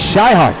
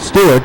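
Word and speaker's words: Swihart: His name is Scheihart, I'm being told. Not Stewart, but Scheihart.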